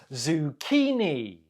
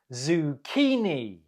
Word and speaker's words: zucchini: do you say it zucchini zukini the stress is on the second syllable How did you do